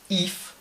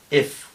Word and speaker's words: if: sílaba eh eh si esto lo decimos con una española If lo estamos diciendo mal por qué Porque en inglés no se diría If sino F es una I corta es este sonido que es entre I y e entre I y e